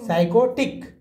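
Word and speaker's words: psychotic: में टिक हो गया अब प साइलेंट है पी को नहीं पढ़ना है कैसे पढ़ेंगे साई एच भी साइलेंट ही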